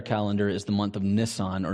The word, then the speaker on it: Nisan: And that month in their calendar is the month of Nisan, or Nisan, we Americans say.